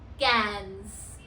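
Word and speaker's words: quinze: Number 15 is cans. Cans. Now here I have an English word for the pronunciation, which is C-A-N-S. Cans.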